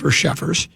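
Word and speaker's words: Cheffers: They asked referee Carl Sheffers, that's how you say it, Sheffers, what the officiating crew saw on the play.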